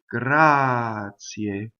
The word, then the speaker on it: grazie: The word grazie. You can speak and say grazie, right? When you sing, you have to be grazie.